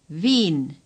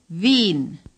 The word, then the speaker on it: Wien: Say Wien. The W in German is pronounced like our V in Vienna. The IE is a long sound. Long I, as in Berlin. Say Berlin. And now say Wien. Wien.